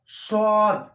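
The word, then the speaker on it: ص: সদ, সদ, এই সদ উচ্চারণ হবে মোটা করে 1 আলিফ টান, এখানে একটি দাগ দেওয়া আছে, 1 আলিফ টান হবে, সদ, সদ, নিচে জিহ্বাটা সদ, নিচে জিহ্বা থাকবে কিন্তু মোটা হবে, সদ, সদ, দদ, এটা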